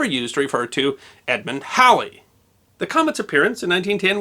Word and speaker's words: Halley: whether that's halle or haley or holly today people with the surname halle tend to prefer the pronunciation that rhymes with the word bally but the musician bill